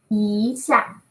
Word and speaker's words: 一下: We say 一下, right? 一下. We say racing. 2, 4.